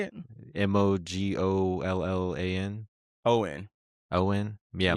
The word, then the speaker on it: Mogollon: Mogollan. Owen. Yeah, Mogollon.